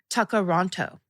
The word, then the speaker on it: Tkaronto: Toronto, pronounced Toronto. Or in traditional Mohawk, Tkaronto.